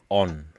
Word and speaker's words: Onn: All right, so I got for you this symbol, and it represents the letter O, and it's pronounced on. and it's spelled with two N's actually, and it represents the gorse, which is a flowering plant.